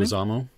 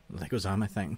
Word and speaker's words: Leguizamo: How do you pronounce his name? Leguizamo. Leguizamo, thank you.